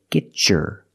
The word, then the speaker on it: get your: example get your stuff if I separate I can say get your stuff but because I have